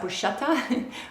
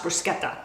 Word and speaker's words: bruschetta: I know people in this country pronounce that bruschetta, but I grew up with a father who was born and raised in Italy, and it's pronounced bruschetta.